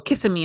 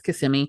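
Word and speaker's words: Kissimmee: of different in like CMI and people go kiss me I'm like no it's Kissam me yes yeah yeah all the all all of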